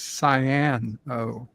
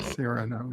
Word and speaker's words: Cyrano: my answer was Cyano Jones, not Cyrano Jones. Well, that's how it's pronounced, Cyrano.